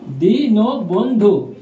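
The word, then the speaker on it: দীনবন্ধু: বন্ধু বানানের উচ্চারণ রীতি দিন বন্ধু ভিউয়ার্স দিন বোন বোন থেমে গেছি তাই হসন্ত আর ধকারে ধো ভিউয়ার্স এই চিহ্নটাকে বলা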